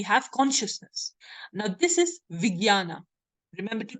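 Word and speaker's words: vijñāna: us because we have Consciousness now this is Viana remember to pronounce it in the actual way Viana Viana right so g y an is the pronunciation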